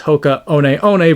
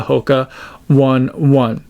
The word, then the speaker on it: Hoka One One: was starting to again correctly pronounce the name Hoka as Hoka on on versus the Hoka one one I could be a